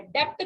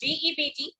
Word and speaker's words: debt: भाई यहाँ पे बी साइलेंट है, डेप्ट कोई नहीं बोलेगा इसको, this is DEBT. Nobody will call it debt, everybody will call it debt. B is silent over.